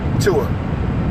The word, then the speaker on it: Tua: How do you pronounce his name? Tua.